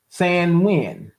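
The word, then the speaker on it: Samhain: Yet, the Halloween holiday has its roots in the ancient Seltic uh festivals of Sam Han, a Gaelic word pro pronounced Sanin, a pagan religion.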